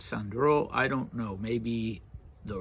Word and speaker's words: Sandro: me that that uh Georgian names always put the stress mildly on the last syllable and that you would say he was called Datiko and that you would say Sandro in this instance but I don't know